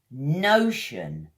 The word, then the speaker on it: notion: It's got 2 syllables. Pretty easy, this one, compared to the others. No-tion. Notion. It's like a shun sound at the end.